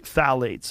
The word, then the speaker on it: phthalates: the introduction of phthalates it starts with a p p t h a l a t EES I think it's how you spell it you say phthalates and phthalates are a